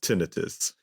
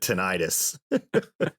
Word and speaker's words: tinnitus: of this and um they were like actually it's pronounced tinnitus so i was like wow sorry i felt like saying you guys have a pr problem then because i think 99 of the world pronounces it tinnitus you guys aren't doing